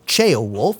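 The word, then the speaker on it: Ceolwulf: put in his place chao wolf or chao wolf as they pronounce it in game isn't actually much better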